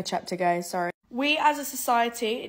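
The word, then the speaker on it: Cheptegei: out the key element also it's pronounced Rebecca chapter guys sorry we as a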